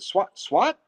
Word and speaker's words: Swatner: And I said, "Well, it's Swatner." They said, "Swat?" I said, "Yeah, yeah, I'll go with that."